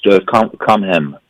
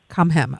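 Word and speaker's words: Kom hem: It's Swedish. Swedish. It's "Come Hem." Come Hem. Okay, just as it sounds.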